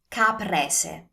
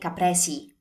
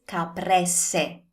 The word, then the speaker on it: caprese: Another common mistake is to say capresi.